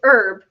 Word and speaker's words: herb: that's not no it's herb and my brain goes oh it's herb and I'm like is no her like we're Southern and we know French we know we don't pronounce that H so but we we